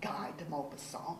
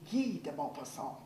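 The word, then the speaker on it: Guy de Maupassant: you're stupid in French it's not Guy deopa song it's g deopa song and you don't know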